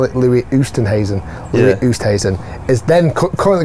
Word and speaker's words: Louis Oosthuizen: So Louis Oosthuizen came out here and shot 1 Actually, under.